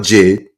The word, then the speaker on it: JID: That's how you pronounce it, Jid. But sometimes I saw it as J early on at least. Um, but Jid, right?